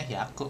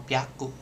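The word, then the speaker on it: 百: I dia bacanya hiaku biasanya hiaku doang atau piaku.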